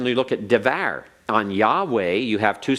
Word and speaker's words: Yahweh: way so we can see it the proper pronunciation Yahweh so we have a syllable we have syllable